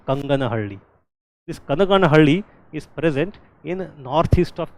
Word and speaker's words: Kanaganahalli: It is not Kanganahalli. I have seen many people mispronouncing it.